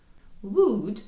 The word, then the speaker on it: would: Would читається схоже. Ми вимовляємо тільки звук в, у, д. Три звуки.